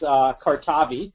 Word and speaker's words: Cardivi: And it's Cardivi. You got it. It's right. We are also known as Cartavi, but Cardivi is the pronunciation we go with.